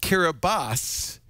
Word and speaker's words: Kiribati: mr cara body and call him hello mr kiribati happy new year one there you go it's four in the morning oh good that's all we needed to know thank you it's pronounced kiribati but it's spelled k-i-r-i-b-a-t-i oh we we used